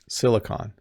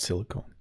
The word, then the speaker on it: Silicon: Silicon Valley, not silicone. Silicone is like a substance you use to glue things together or seal things, but silicon, hopefully I'm saying it right.